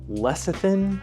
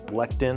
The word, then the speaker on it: lecithin: G of this sunflower leian I think is how I pronounced it I was calling it lectin I think my bad yeah it's a very